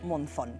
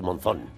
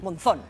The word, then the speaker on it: Monzón: Bueno, aquí sería Monzó, pero es Monzón. De rodillas, Monzón. De rodillas, Monzón. Monzón.